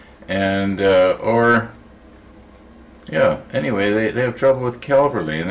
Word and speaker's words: Calverley: My last name is Calverley. C-A-L-V-E-R-L-E-Y. Calverley. And that's the way you say it. People get it all mixed up with, you know, like the cavalry, you know, the guys